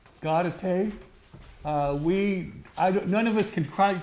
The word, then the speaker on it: Gaudete: What did you pronounce it, Sherry? Gaudete.